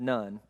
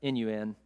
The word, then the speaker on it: Nun: Joshua, son of Nun, N-U-N, not Nun, like he had family, he had parents, it's spelled weird.